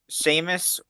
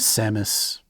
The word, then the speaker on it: Samus: you know either the names Seamus or perhaps Phlogistock? These names are not familiar to me, Kadesh. All right. I think you meant Samus, but you forgot how to pronounce it.